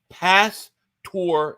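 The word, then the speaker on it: pastor: for uh super potatoes it's pronounced past tour it's marinated pork gotcha gotcha um that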